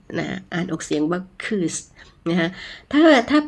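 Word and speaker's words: kız: อือ คล้าย ๆ ตัว ตัว ไอ นะ คะ ไม่ มี จุด บน หัว นะ คะ คือ สระ อึ นะ ฮะ ยก ตัว อย่าง เช่น คำ ว่า คืส นะ ฮะ เค อื้อ เสะ นะ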